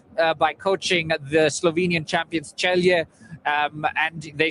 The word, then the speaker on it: Celje: coming from that name is very hard to pronounce. Celje. I was struggling actually. Was it Celje? So Kai gets it right. It's Celje.